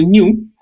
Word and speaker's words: GNU: Entonces, la única forma de llamarle a este animal que está ahí, que es un new, en inglés es con la G y la N. Entonces se pronuncia new y por eso le pusieron new.